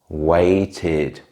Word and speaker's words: waited: Lastly, if a verb already ends in a t or a d sound, we still add the letters ed, but in this case we pronounce it like id. Decide, decided. Wait, waited.